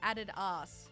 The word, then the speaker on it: Adidas: like the canned spaghetti I just found out that Australians pronounce Adidas like aded ass do you say Adidas adus it's Adidas not Adidas